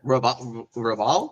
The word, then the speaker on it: Raval: Yeah, Raval.